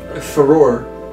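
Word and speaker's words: Farore: That's not how it's pronounced. I mean, the wording of it does not have an O. No, it's Farror.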